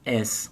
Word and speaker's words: es: O Maicon perguntou, qual é a pronúncia correta? S ou is? Ou os dois? Por incrível que pareça, a depender do contexto, no mais das vezes, na maioria das vezes, es. Não é aberto.